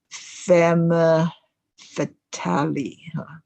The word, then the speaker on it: femme fatale: 我们说这个 depression 的人有这个 bleak view 对这个人生充满了这个灰暗的这个感觉那这个蛇蝎美人呢，在法文里面叫做 femme fatale 或者叫做 femme fatale 这英文里这样念哈，可是法文要念成 femme fatale。那她就是一个 lethal woman，就是你这个男的如果碰到了这个人，你就倒霉了，你就会被他吸引得一塌糊涂，而变成做一些不该做的事，都是因为这个坏女人哈。所以这个坏女人就叫做 femme fatale，她会的